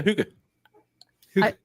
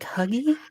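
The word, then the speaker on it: hygge: Yeah. Huga. I was I was like huggy.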